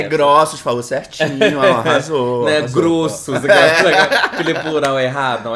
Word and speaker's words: Grossos: É Grossos, falou certinho, arrasou. Não é arrasou. Grossos, aquele plural errado. Não, é Grossos, igual ossos, tá?